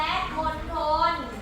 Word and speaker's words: มณฑล: เียง ท มณโฑ และ มณฑล มณโฑ และ มณฑล ท เล่น กล ออก เสียง ทอ ท เล่น กล ออก